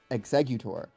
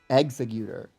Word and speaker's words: Exeggutor: I think the hardest one for me was executor. Executor. I have to like read it. I have to like see it written down cuz in my head I'm like exeggutor. But it's like no, it's executor.